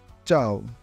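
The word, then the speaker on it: ciao: হয় যেমন কাজা কাজা যদি চি এর পরে ই বা এ থাকে তখন এটি চ এর মত উচ্চারণ হয় চাও চাও দি এর উচ্চারণ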